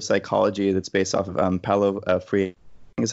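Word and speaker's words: Paulo Freire: fringy subfield of psychology that's based off of palo free this is how you pronounce its name the the liberation theology stuff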